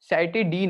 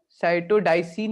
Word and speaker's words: साइटिडीन: साइटिडीन हो जाता है, ठीक है। डाई सही इसने यूज किया, कौन बताया था आंसर, साइटोडाइसिन नहीं होता, साइटोडीन हो जाता है, DIN कर देते हैं, ठीक है।